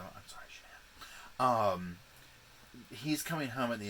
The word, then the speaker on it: Shanann: She is worried sick about her friend Shannon. And Shanann. I'm sorry. Thank you everybody for telling me the how to pronounce her name, and here I am doing it wrong, so I'm sorry, Shanann.